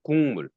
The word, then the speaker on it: 국물: 단어 국물. 근데 발음은 국물.